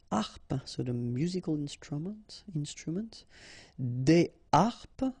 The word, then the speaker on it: des harpes: Des harpes, okay, so you don't make the liaison between the two. Des harpes.